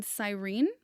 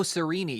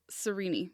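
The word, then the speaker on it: Cyrene: yeah he's chilling in sirene oh sereni yeah yeah it's like to the east oh no sorry it's to the west of like Alexandria and it's pronounced sereni yeah okay I've just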